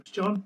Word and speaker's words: John: They're listening for the H. Listening for the H. It's John.